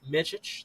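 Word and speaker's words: Micić: Jason, how do you pronounce that one? Micic.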